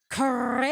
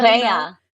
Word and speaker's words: Correia: But I thought I was supposed to roll my R's. I was ready to say Correia. I couldn't do it. I could never do it, you know? Korea.